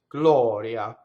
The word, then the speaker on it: gloria: Surrounded by vowel, it's flipped. Glɔria.